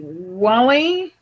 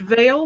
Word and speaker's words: Vale: Frida's commentary that it's going to be closer pronunciation. It's going to be Wally. I did contact the submitter, and he really wants it pronounced Vale, so he is okay with the new spelling.